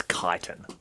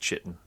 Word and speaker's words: chitin: They see by way I don't know why you pronounce it like that. It's pronounced chitin.